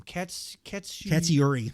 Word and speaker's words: Katsuyori: Katsuyori.